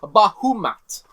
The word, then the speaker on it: Bahamut: And some of the centaur shamans have summoned Bahamut. Or sorry, a Leviathan. Not Bahamut himself, but a Leviathan. Name Bahamut. And now that you guys No. are You're saying it wrong. It's pronounced Bahumat.